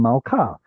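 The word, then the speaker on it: מַלְכָּה: If you take a feminine word, like malka, the hay right here is actually a remnant, a vestige, if you will, of the original feminine tav, malka. But we were lazy. We stopped pronouncing the at the end, and it became malka.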